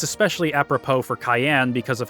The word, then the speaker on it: Cyan: of Doma alone Samurai stands Above the Rest Cayenne gamond retainer to the king and devoted husband